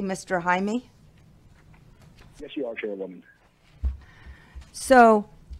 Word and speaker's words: Jaime: And are we pronouncing it correctly, Mr. Jaime?